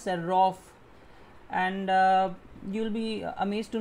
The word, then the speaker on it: Serov: So it, since it's a Russian word, we pronounce it as Serov.